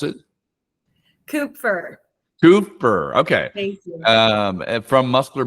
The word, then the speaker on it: Kupfer: How do you spell it or I pronounce it? Kupfer.